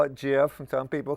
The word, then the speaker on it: GIF: GIF. It's GIF. It's GIF. Do not. GIF. Right. GIF. Okay. I know what it is. F. Do not pronounce it with a J.